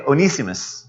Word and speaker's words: Onesimus: Onesimus. Abuna, is that the right way to pronounce it? Can we? Okay, Onesimus.